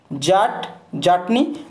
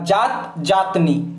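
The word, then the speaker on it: जट-जटिन: একটা আছে জাট জাটনি জাট জাটনি বা জাত জাতনি দুরকম ভাবে উচ্চারণ হয় বিহারের হচ্ছে জাট জাটনি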